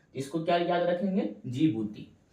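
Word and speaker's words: Djibouti: क्या हो जाएगा जिबती जीबुटी इसको इंग्लिश में कहते है डी जी आई बी यू टी आई ठीक है डी से स्टार्ट होता है लेकिन डी क्या रहता है साइलेंट रहता है इसको क्या याद रखेंगे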